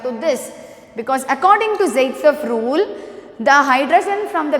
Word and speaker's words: Zaitsev: This is pronounced as Zaitsev.